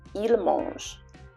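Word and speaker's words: mangent: If you conjugate the verb in the third person plural, you'll have il mange, ENT at the end. So that T at the end is silent. Il mange. Okay, that's what you'll have. Tomber, to fall. Il tombe, same thing. ENT, il tombe. Okay, that T is silent.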